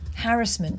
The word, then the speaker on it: harassment: let's see what harassment pronounced harassment harassment to rhyme with embarrassment um definition harassment legal